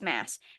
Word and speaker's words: Maas: The last time I mentioned her, I learned that I was saying her last name wrong. So yes, apparently it's Mass.